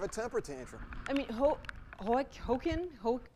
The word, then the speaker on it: Joaquin: I mean, Joaquin? Joaquin. Hokum's Jokums. Phonetically, it's W-A-K-E-E-M.